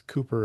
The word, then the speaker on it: Cowper: Um, in the British writers there was Compton and Cooper and there's another one that will come up on the next shelf that is it looks like cowper but it's Cooper as well.